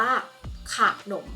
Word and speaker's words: ขนม: หรือ พยางค์ หลัก เนี่ย เรา จะ ต้อง อ่าน แบบ นี้ ของ นำ เติม หอ เข้า ไป ค่ะ ดัง นั้น คำ นี้ จะ อาจ ว่า หนม หอ นอ อก หมอ นม นะ คะ นะ ดัง นั้น คำ ขอ ใคร หนู มอ ม้า จะ อ่าน ว่า ขนม ค่ะ เพราะ ว่า ขอ ขาย